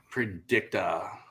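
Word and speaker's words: zPREDICTA: Predictive Oncology merger news where they acquired a company called Predicta. It has a Z in front of it, though. I guess the Z is silent.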